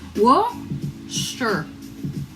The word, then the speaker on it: Worcester: Worcestershire is pronounced Worcester.